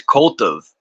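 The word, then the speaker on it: Koltuv: of Lilith by Barbara black Colt her name's CV that's funny right but it's spelled k o l tuu v Co C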